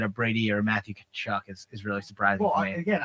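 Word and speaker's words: Tkachuk: Kachuk is literally spelled with a T, yeah, you're right. and it's K. Yeah, you're It right. starts with a T. But it is K.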